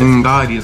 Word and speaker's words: Umgadi: Umgadi, that's how you say it.